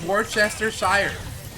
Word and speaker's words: Worcestershire: It's Worcestershire. It really is pronounced Worcester.